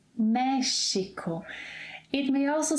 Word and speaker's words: México: It's not Mexico, in Portuguese. México.